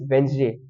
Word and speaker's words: Wednesday: will just say Marketplace then Wednesday some people pronounce it Wednesday but it's not correct the correct pronunciation is Wednesday then third is lucrative not lucrative it's lucrative